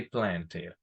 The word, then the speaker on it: planted: So, the general rule, la regla general es que si antes de la ed hay una t o una d, pronunciamos la e. Si no, no la pronunciamos. Por ejemplo, si tengo el verbo decided, pronuncio la e, decided. If I have the verb, for example, planted, I say planted.